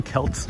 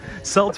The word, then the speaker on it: Celts: Jan says, darn Celts. Yeah, Celts or Celts, I use both pronunciations.